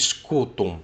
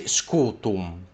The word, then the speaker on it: scutum: You don't want to pronounce that M very well, so you just say scutum, and that M is still in there, but it's not as visible.